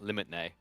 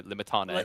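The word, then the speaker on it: Limitanei: He's always like, Limitne. And I'm like, no, Limitane.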